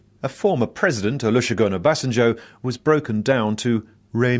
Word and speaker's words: Obasanjo: needed to get to grips with the tricky pronounciation of Nigeria's Yoruba names a former President Olusegun Obasanjo was broken down to Ray me me Ray